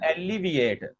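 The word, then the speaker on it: alleviate: जरा गौर कीजिए मेरी प्रोनाउंसिएशन के ऊपर. एक होता है एलिवेट, उसका मतलब होता है बुलंद होना, ऊपर चढ़ना, ऊपर उठना वगैरह. एक होता है एलिविएट, तो एलिविएट का मतलब होता है खत्म करना, कम करना, मतलब खत्म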